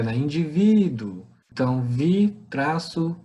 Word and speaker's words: indivíduo: Indivíduo. Então, o vi seria a sílaba tônica aí.